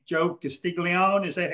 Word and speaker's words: Castiglione: and i'm gonna butcher joe's last name joe castiglione is that how you pronounce it yeah you got it right i